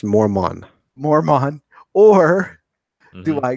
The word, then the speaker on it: Mormon: so am I going to go to a religion that requires self-discipline that my father, who's a moron, suggests that we do It's pronounced Mormon.